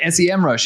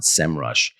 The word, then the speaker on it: Semrush: Backlinko or Semrush, and I keep calling it Semrush, even though you educated me on that. Yeah, I know. Me too. I used to always call it Semrush. I only recently discovered they actually pronounce it Semrush.